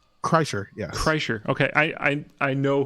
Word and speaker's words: Kreischer: Oh, that's how you pronounce his name? Kreischer, yes.